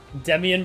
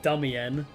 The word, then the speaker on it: Demian: Demian, but pronounced the wrong way like Dummian.